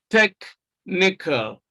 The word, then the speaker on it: technical: Option C, even though you have CH here, the sound is K, technical, technical.